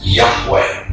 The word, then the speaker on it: Yahweh: Today, Yud-He-Wah-He is most often rendered as Yahweh when written or spoken by Christians and others. It is still never pronounced aloud by Orthodox Jews.